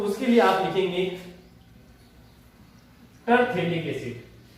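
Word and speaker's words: terephthalic: उसके लिए आप लिखेंगे टरथैलिक एसिड। ये अगर पास में थैले जैसी स्ट्रक्चर है तो थैलिक एसिड है, नहीं तो टरथैलिक एसिड है। इसमें P साइलेंट रहेगा स्टूडेंट।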